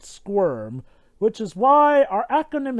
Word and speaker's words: SCWRM: us an abbreviation and one that of course sounds like the word squirm which is why our